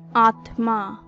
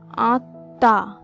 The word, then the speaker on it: আত্মা: আমরা বেশিরভাগ সময় বলে থাকি আত্মা, যেহেতু ত আর ম একসঙ্গে যুক্তাক্ষর অবস্থায় আছে, কিন্তু এর সঠিক উচ্চারণ হবে আত্মা, আত্মা।